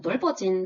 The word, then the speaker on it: 넓어진: 이 경우에는 겹받침 중에서 뒤에 것이 연음이 되어서 넓어진이 표준 발음입니다.